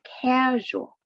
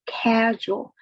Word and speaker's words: casual: the word friendly but the word casual the stress on the first syllable casual means not formal right and you can